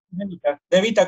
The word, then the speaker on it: De Vita: ¿Se pronuncia así, De Vita? ¿Está bien? De Vita, como suena.